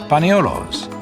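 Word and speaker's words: paniolo: California to punch cattle Panos is the way espanoles came to be pronounced in the islands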